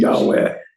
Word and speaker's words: Yahweh: The J, we get confused because in German, the J is pronounced as a Y. Right, So we come over here to English. Yahweh, you say- Yahweh, use the J, Yahweh.